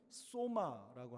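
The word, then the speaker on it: σῶμα: 근데 여기에 몸이라고 하는 것이 뭐냐면 소마라고 하는 겁니다. 옆에 써놨죠? 그게 소마라고 읽습니다.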